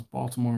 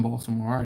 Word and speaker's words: Baltimore: is the fact that I pronounce the T in Baltimore I've talked about this